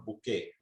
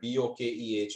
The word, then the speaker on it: bokeh: of effect this blurry effect is called a bouquet it's spelled b-o-k-e-h i'm not sure exactly how it's pronounced but